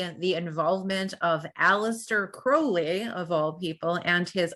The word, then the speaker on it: Crowley: when he met them my name is Crowley rhymes with holy my enemies call me Crowley but that's fouly so he himself would